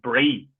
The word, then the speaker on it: Bree: There was a little town, Brie, like almost like cheese, like, but I don't think it's spelled the same. I think it's spelled BREE, and so it sort